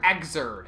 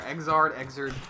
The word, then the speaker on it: Xrd: Xrd. It's like 3rd, but an X instead of 3.